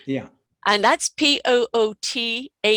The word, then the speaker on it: Poothullil: I've forgotten how to pronounce. Yeah. And that's Poothullil, right?